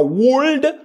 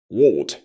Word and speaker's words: would: Dans ces cas-ci, vous allez retirer le son là. OK? Donc, on ne dira pas would, on dira would.